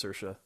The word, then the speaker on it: Saoirse: Yeah, it's Saoirse. Huh. That's how I you pronounce tried to it.